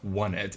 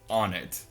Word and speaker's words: Onett: more of on it h and no the pronunciation is not not one it it's on it it just drives me crazy when I hear